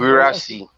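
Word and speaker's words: Guirassy: His name is, can you pronounce it clearly? I'm always having difficulty in pronouncing it. Gurasi, Gurasi. Wahala Sehu everywhere.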